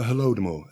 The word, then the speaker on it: Holodomor: The Holodomor, HOLODOMOR. Okay. And it's from Ukrainian. It means terror hunger, I think. Okay. So it sounds like Holocaust, but it's a different linguistic root.